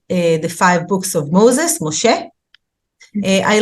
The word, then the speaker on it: Moshe: their real pronunciation so Moses is actually Moshe avraham is Abraham that's